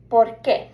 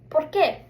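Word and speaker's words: por qué: So as I said pronunciation is going to be porqu. So repeat after me porqu. Perfect. So notice this is two different words.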